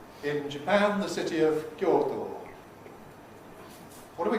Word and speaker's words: Kyoto: result of a compression, which we can't do in this environment, because O is stressed. Therefore, we say Kyoto.